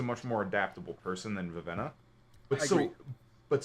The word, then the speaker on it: Vivenna: We're still talking about Vivina, yes? Vivenna?